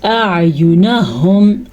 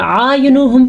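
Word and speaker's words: أعينهم: لمبا نہیں کرنا اس کو، دونوں کی الگ الگ آواز نکلنی چاہیے. اگر آینہم پڑھیں گے تو ہم غلط پڑھیں گے، آینہم پڑھیں گے تو بھی غلط پڑھیں گے. ہم نے پڑھنا ہے نرمی سے سختی کی طرف، حمزہ نرمی سے ادا کیا جاتا ہے اور عین جو ہے مخصوص مخرج ہے، اس کا دھیان رکھا جائے.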